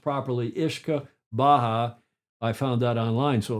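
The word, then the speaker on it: uisge beatha: and that those Scots and Gaelic words are pronounced ishka Baha ishka Baha it doesn't look like isaba doesn't look like that at all it looks like you yusa baa but it's pronounced properly ishka Baja I found that online so it must be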